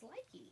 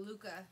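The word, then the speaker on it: Lykke: This is what how did you pronounce that? Because I always thought it was Likey. Oh, Luca. Luca. How is that Luca? I don't know. It's Dutch or something.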